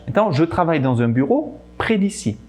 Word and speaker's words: bureau: O som E, A, U se fala O em francês, quase igual à letra O, na verdade. Então, je travaille dans un bureau près d'ici.